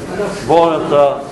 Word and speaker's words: волята: То и другото е правилно, ама трябва ударението да пада волята Ти.